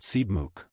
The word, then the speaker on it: Sebamook: Joe answered Sebamook, Tomant pronounced it Seebmook.